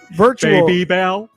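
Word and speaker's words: Babybel: Baby Bell.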